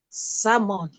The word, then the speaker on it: salmon: Salmon.